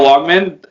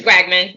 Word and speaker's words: Wagman: with mma prospect l walkman i hope i pronounced your last name properly it's wegman you're you're close i'm close